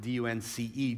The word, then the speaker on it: Dunce: And so we would pronounce it D-U-N-C-E, Dunce. And so from the 1500s